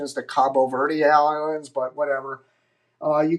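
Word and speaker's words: Cabo Verde: the cape bird Islands they like the proper pronunciation is the Cabo ver Islands but whatever uh you can see it's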